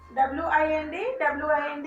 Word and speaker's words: wind: So that in the sense you can see wind is the same spelling, and the pronunciation is different, and the meaning is also different.